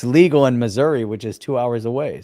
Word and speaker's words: Missouri: City in Kansas Kansas City Kansas Kansas City Missour that's how they say it Miss yeah and